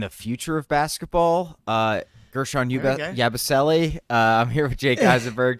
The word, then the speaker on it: Yabusele: Gershon Yabusele. I'm here with Jake Eisenberg. Jake, what's up, buddy? Well, I really enjoyed getting hammered home the correct pronunciation of Yabu's name, Yabusele, not Yabusele.